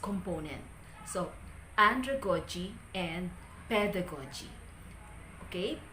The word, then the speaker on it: pedagogy: is true with pedagogy pedagogy before i pronounce this as pedagogy but the correct pronunciation is pedagogy pedagogy the primary stress lies in the first component pedagogy how many syllables